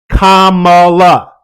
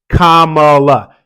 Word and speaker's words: Kamala: and a half years learn her name Kamala whether you like her or not whether you're for her or against her whether you're with her or you're not with her say her name right Kamala you want someone to